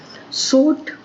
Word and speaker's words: sword: Sword, W is silent.